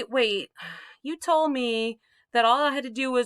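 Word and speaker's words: は: you already know that ha under certain circumstances can be pronounced wah wah is the old-fashioned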